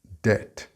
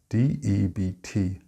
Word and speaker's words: debt: The B is silent in this word, and if you pronounce it, it may sound like death or depth.